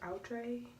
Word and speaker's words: Outre: It's pronounced Outre.